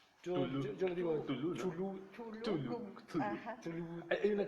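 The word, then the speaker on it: Cthulhu: de Lovecraft es el llamado de Chulú. Chulú, En Nadie sabe, verdad, se supone que dicen que hay un audio donde Lovecraft dice, bueno, hace la la pronunciación pronunciación. correcta. Tulu.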